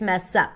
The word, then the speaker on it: mess up: So the stress falls on the word up, but here we see the connected speech. The S of the word mess becomes the beginning of the next syllable, which is up, and then that's what we hear, mess up.